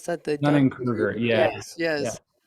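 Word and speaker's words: Dunning-Kruger: Because I think even like you were mentioning the Dunny, how do you pronounce that? The Dunning Dunning Kruger.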